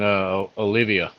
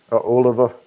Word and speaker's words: Oliva: I'm smoking Olivia right now. Oliva. Oliva? That's how you say it?